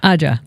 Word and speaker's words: Ajja: Ajja.